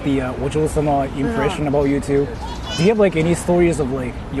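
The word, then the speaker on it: お嬢様: So the way how you say it, that's Ojo-sama.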